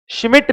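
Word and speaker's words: Schmidt: शिमिट reaction. T डिसाइलेंट है। शिमिट reaction.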